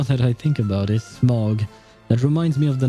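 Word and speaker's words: Smaug: Hobbit series you know although I think it's pronounced M I think but it's written as m a u and Au in French is pronounced O So smog so yeah kind of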